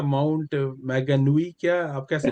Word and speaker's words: Mount Maunganui: साथ सी है, कौन सा बड़ा प्यारा सा माउंट मैगनवी, क्या आप कैसे प्रोनाउंस करते हैं? हाँ जी, ये एक शहर है तोरंगा, तो उसके साथ छोटा दूसरा टाउन सा है माउंट मांगनूई।